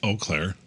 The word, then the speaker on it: Eau Claire: I don't know how you pronounce it, but I know how to spell it. It's Eau Claire.